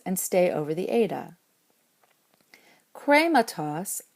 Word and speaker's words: χρήματος: Krematos, of the thing, has 3 syllables in this form, and the last one is short. So the accent can stay on the eta, but it has to be an acute, since you can't have a circumflex back that far.